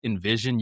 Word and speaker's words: NVZN: So, it's actually pronounced Envision.